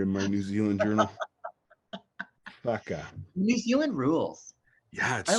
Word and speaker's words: whaka: So in the Te Reo language, in Maori language, the WH is one letter and it's pronounced F. So it's a F sound. So if you ever see WHAKA, that would be Faka.